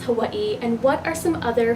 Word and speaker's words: Hawaiʻi: an O kina and the best way I could describe it is a glottal stop so when you see